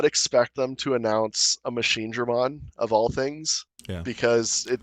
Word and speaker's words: Mugendramon: It's the Machine Dramon, or you pronounce it. Mugendramon.